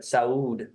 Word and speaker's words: saúde: It's like salud, but saúde.